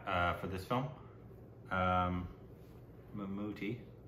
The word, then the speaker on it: Mammootty: 89 right yeah uh for this film um mamuti is how you pronounce it am I just white white Whiting